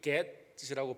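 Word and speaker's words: Gad: G-A-D, get이라고 발음해야 되겠죠.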